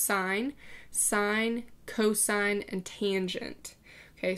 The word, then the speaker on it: sine: Sine, I know it looks like sin, but it's pronounced sine.